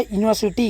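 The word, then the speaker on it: university: में तो यह है यूनिवर्सिटी यूनिवर्सिटी यूनिवर्सिटी य य य य यूनिवर्सिटी इसमें भी य आ रहा है य य क्या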